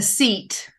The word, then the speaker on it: cete: A seat. But it's spelled CETE. Seat.